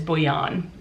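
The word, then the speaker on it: Bhuiyan: name and i'm pretty sure that's how she pronounced it is bouyon but um this is a fake dating why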